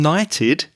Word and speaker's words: knight: It's with a K, so it's KNIGHT as in caballero.